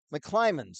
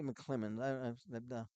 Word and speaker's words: McClimans: And is it Jeff McClemens? McClimans. Okay, I always mispronounce that. I always say McClemens.